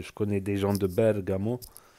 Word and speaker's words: Bergamo: connais des gens de Bergamo Bergamo c'est comme ça prononce en italien c'est Napoli euh Milano toujours l'accent au début c'est leur accent c'est